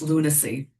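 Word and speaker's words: Lunasea: It's from an album called Lunac. Little play word, right? Because it's spelled L U N A S E A like Moonwater, you know, like that. But it's pronounced lunacy.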